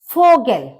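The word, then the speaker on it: Vogel: सा काट सा कैट फोगल फोगल मतलब बल ी का जो प्रोनंसिएशन है वो फा होता है तो इसलिए फोगल मतलब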